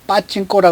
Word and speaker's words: 파친코: 오늘 이야기하고자 하는 것은 여러분께 잘 아시다시피 요즘에 가장 핫한 드라마 파친코 이야기입니다. 일본말로 빠찡꼬라 그러죠. 빠찡꼬. 그냥 빠찡꼬가 발음이 편한데 파친코. 어쨌든 원어대로 따라가야 되겠죠.